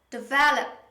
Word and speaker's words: develop: second syllable another word develop develop but most learners they usually say develop develop now we don't say develop don't pronounce the o sound in this word just say develop develop so stress is on